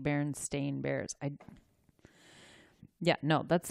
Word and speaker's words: Berenstain: remember it its Stein or stain when I pronounced it Bernstein so did I but spelled the ein yeah and then but but it's actually a I am like stain like berenstain bears I ya know that's not what it